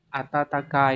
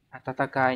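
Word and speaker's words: 暖かい: tự là chữ Noãn từ này phải đọc là atatakai đúng không atatakai nha Còn đọc là Yak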